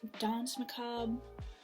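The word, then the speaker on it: Danse Macabre: um is stephen king don say macabre i think that's how you say this it's pronounced dance macabre um i took french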